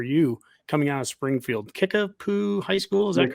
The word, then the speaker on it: Kickapoo: Kickapoo High School, is that correct?